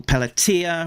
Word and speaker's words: Pelletier: Pencellor Paul Pelatia rhymes with Pia uh Inca Tony Cordos.